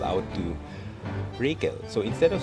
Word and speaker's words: Rachel: And you might be wondering why I often pronounce his name as Rakel, because if you use Ramley, or if you